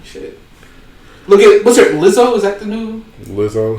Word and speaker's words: Lizzo: I'm trying Lizzo, Lizzo.